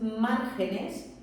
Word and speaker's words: márgenes: Si yo, por ejemplo, tengo margen, la palabra margen, que sería una palabra llana terminada en en y por tanto no llevaría tilde, cuando lo hago en plural, lo que yo tengo es márgenes, mantengo la misma sílaba tónica, la sílaba tónica es la misma, pero ya se ha convertido en una palabra esdrújula y lo que hago es que gana la tilde.